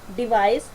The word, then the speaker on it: device: जब भी सी से पहले और बाद में आपका वावल साउंड आएगा तो आपने क्या करना है, उसको से प्रोनाउंस करना।